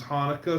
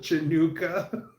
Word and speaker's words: Hanukkah: They've got um Smokeoky Robinson and he's saying like Merry Christmas and then he miss he he mispronounces Hanukkah something phenomenally wrong. He called it Januka.